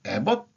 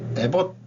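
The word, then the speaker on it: Abbott: 그리고 에벗 주지사인데 에버트라고도 발음을 합니다. 에버트라고 발음하기도 하고 텍사스는 국내외적으로 AI 리더가 되기 위해 다양한 전략을 준비하고 있다.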